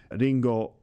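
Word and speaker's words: りんご: In my pronunciation, it's Ringo, but in Japanese, it'd be like Ringo.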